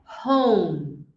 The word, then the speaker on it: home: A galera tende a falar com o som do L. Mas aqui é home.